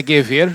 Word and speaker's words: Gewehr: Então, a pronúncia do meu nome, para quem não é fluente em alemão, esse idioma tão simples, é Gewehr, Gewehr, tá ok?